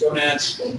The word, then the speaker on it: gonads: You should know how to pronounce gonads. It rhymes with monad.